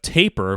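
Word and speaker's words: Tapir!: To actually respond to his mention of Tapir, which is how that artist's name is pronounced, I actually discovered them not long ago.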